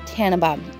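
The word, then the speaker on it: Tenenbaum: And this is Bridget Tannenbaum. Yes, like the Christmas tree song, if I remember correctly. That's how you pronounce it.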